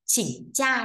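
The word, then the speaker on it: 请假: À, xin nghỉ ạ, à, xin nghỉ trong tiếng Trung chúng ta sẽ đọc là chỉnh cha nhé, chỉnh cha à, chỉnh cha xin nghỉ đó.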